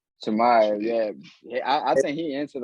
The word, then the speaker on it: Chimaev: But how you pronounce his name? Chimaev. Chimaev, yeah.